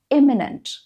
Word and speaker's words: imminent: Next is eminent versus imminent. They're pronounced slightly differently. One is eminent, the other is imminent.